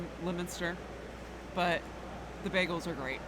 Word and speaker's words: Leominster: I've always called it Leominster, but it's Leominster. But they have an awesome web. It's not spelled that way, I know.